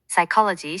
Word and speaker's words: psychology: knee, 무릎나 knob, 손잡이처럼 kn으로 시작하는 단어들은 K가 psychology, 심리학처럼 푸스로 시작할 때 P가 climb, 오르다에서는 B가 묵음이고 talk, 말하다에서는 L이 묵음이 된답니다.